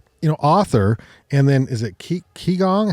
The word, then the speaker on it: Qigong: Britta Stump, author, and then is it Qigong? How do you say it? Qigong.